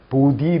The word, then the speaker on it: 보디: 보디 랭귀지. 그죠? 바디가 아닙니다. 보디입니다. 보디. 바디 로션이 아니라 보디 로션.